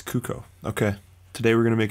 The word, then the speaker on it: Cuco: even know how to pronounce it how to pronounce cuco it's cuco okay today we're gonna make a cuckoo beat